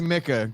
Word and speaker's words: Micah: He still says Micah.